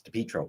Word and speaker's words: DePietro: Now, again, it was a little soft, but the person talking, saying, and all right, so she mispronounced our last name. It's DePietro, but is Rachel Campos Duffy, who's married to Sean Duffy, who's the transportation secretary.